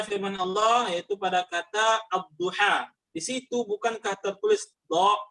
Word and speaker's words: الضحى: وبدل بدلا منها ألفا، فاكتبها ياء لكن انطقها ألفا. Barakallahu fiik. Kemudian contoh yang lain pada huruf ya. Ada firman Allah yaitu pada kata ad-duha.